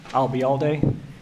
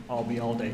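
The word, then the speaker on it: Ayalde: FBI what was that if you uh remember the phrase I'll be here all day and drop it here I'll be all day you got it thank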